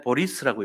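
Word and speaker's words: Борис: 그러니까 보아스인데 보리스라고 읽어요. 보리스. 러시아식으로 읽으면 보리스 콘펠트라는 의사예요.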